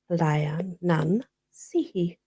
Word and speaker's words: Leanansidhe: It is spelt Leanansidhe, but it's pronounced Lianan Sihi.